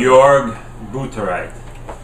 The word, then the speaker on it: Jörg Buttgereit: Jörg Buttgereit.